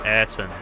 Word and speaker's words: Ayaton: then uh and then Ayaton manages to find the win. Oh, apparently Ayaton's pronounced Aton.